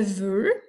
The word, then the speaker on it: veux: v e une x il en retient bien le x à la fin du mou il est muet et caen et le